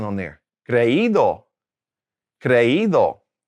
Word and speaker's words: creído: Creído.